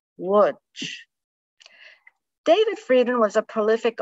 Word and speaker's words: Łódź: The scenes were of appalling hunger and destitution in the Lodz Ghetto. The Polish pronunciation is Łódź.